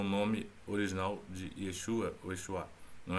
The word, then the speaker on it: Yeshua: a Jesus, mas fala: "É exua". É Yesua. E na verdade a pronúncia correta é Yesuá, não é?